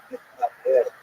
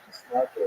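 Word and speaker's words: Mitnaged: even the name itself, Mitnaher, or Misnagher, in English pronunciation, refers to how the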